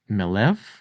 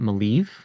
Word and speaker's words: Maleev: Now, I learned recently that his name is actually pronounced Melev, not Maleev, based on his origin or his country of origin.